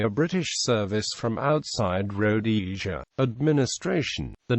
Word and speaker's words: Rhodesia: name should have been pronounced with the emphasis on the second rather than the first syllable the historian Robert Blake